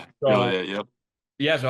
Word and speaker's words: Joliet: You're an Illinois guy from, let me get this right, Joliet, I believe it's pronounced. Joliet, yep.